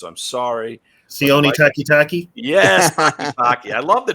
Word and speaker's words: Takitaki: I'm just trying to pronounce his name properly, and if I butcher this, I'm sorry. Sione Takitaki? Yes, Takitaki.